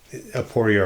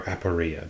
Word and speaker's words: aporia: And the inexplicable nature of the planet, that's the aporia or aporia, depending on how you're going to pronounce it, the aporia that opens